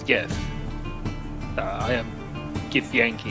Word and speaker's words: Gith: Like, is it GIF? GIF? How do you say it? Well, the name for the race is Gith.